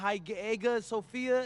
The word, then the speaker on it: Hagia Sophia: And one thing I'm really looking forward to is I hear they've got a beautiful architecture over there, and the Hagia Sophia, if I'm pronouncing that right, is supposed to be fire.